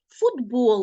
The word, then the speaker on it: футбол: не пропустити або ж вимовляємо інший футбол наприклад Т глухий А у вимові ми його вимовляємо як д таке явище називається уподібнення якщо тебе зацікавило чому так